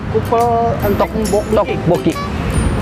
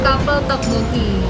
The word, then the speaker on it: Kapel Tteokbokki: Cupel entek mboki. Guys, kita masuk. Let's go. Oke guys, kita akan makan makanan Korea. Kapel Tteokbokki. Gimana sih Bu bacanya? Bacanya itu Kapel Tteokbokki.